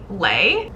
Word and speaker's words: Lei: Jared trying to provoke I think I said her name wrong in the first clip it's actually Lei it's Jared trying to